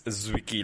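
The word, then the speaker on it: Zwicky: So like Fritz Zwicki like Zed and Zed in the end.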